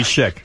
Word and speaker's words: chic: No, I think it's Shik.